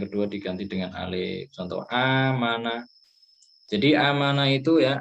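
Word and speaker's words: آمَنَ: Maka kemudian bacanya amana bukan akmana ya. Aslinya akmana gitu. Tapi karena ada hamzah pertama, ada hamzah kedua, maka itu dibaca panjang digabung. Amana.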